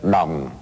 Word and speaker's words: dong: Notre monnaie, pour prononcer correctement, il faut dire le dong.